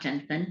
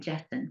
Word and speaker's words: Jennsen: you didn't miss anything my last name is Jess Not Jensen but that is often Mis mispronounced so if people are looking me up later it's JS n jessen how I got into